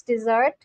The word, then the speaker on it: dessert: Soul has told me that it's not desert, it's dessert.